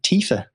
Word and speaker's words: Tifa: Get some new characters, including Tifa. Yes, who I hilariously pronounced wrong. How did you pronounce it? But I said Tiffer.